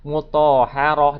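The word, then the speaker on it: مطهرة: Mutahharah dia berubah menjadi apa? Menjadi ha sukun, ya.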